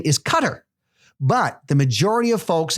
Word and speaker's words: Qatar: country from his dad, says that the proper pronunciation of his country's name is Qatar, but the majority of folks and infidels call it Qatar.